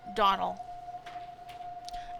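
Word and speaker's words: Domhnall: This guy's name is pronounced, first name is pronounced Donald.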